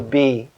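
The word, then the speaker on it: 璧: a metal ritual vessel but a jade symbolic stone the circular jade with the hole in the middle of it called the b sometimes in english spelled as p i but pronounced b it's like this circle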